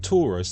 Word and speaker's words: Taurus: through that local chimney notice that Taurus the constellation is pronounced in English just like the shape Taurus and Taurus is the